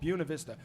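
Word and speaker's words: Buena Vista: they were like like listen buav Vista is fine but the original people who named the town would have called it bunavista because they were like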